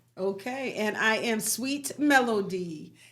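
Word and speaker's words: Mellodye: Just make sure you spell melody right. All right. M E L L O D Y E. Okay. Pronounced like music. Not no Melanie.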